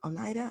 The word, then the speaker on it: Oneida: earlier um quakers and the oneida onita group oneida i think it's pronounced and other um religious